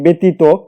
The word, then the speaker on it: ব্যতীত: তেমনি ভাবে যদি লিখি ব্যতীত, এই ব্যতীত উচ্চারণটা বয়াকার হবে।